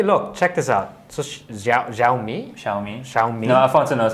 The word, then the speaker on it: Xiaomi: So Xiaomi. Xiaomi. No, Alfonso knows how to pronounce it.